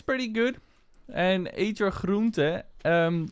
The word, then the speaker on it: groente: And eet je groente. Groente, vegetables, is spelled G-R-O-E-N-T-E. with a basically a N at the end that is not obligated.